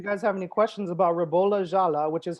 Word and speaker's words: Ribolla Gialla: comments if you guys have any questions about rebula jala which is how it's pronounced by the way um say that 10